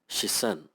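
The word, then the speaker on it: 視線: is a noun that means gaze and is pronounced as shisen the second word means to feel and is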